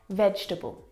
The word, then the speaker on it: vegetable: the first word is vegetable vegetable now this word is a challenge because it looks like there should be four syllables in this word vegetable but there's not